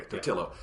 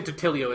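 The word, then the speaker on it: Totilo: Okay, Totillo. From when you say Totilio, it sounds like a pizza roll brand or something like Tostino's.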